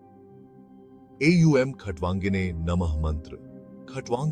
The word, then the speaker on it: नमः: नमः का उच्चारण नमः की तरह किया जाता है, जिसमें मह साउंड को हल्के से नाक से बाहर निकाला जाता है।